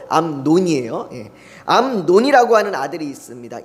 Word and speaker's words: 암논: 발음 잘해야 됩니다. 암놈이 아니고 암논이에요.